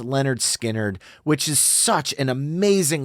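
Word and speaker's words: Lynyrd Skynyrd: From their incredible 1973 debut studio album, Pronounced Leonard Skinnerd, which is such an amazing listen between Gimme 3 Steps, Simple Man, Tuesday's Gone, and then obviously Free Bird.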